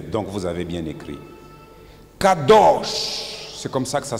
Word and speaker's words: Kadosch: Donc vous avez bien écrit Kadosch. C'est comme ça que ça se prononce.